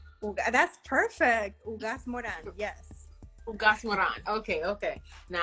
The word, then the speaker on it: Ugaz-Moran: Thank Now let me see if I can pronounce this correctly. Ugaz-Moran. That's perfect. Ugaz-Moran.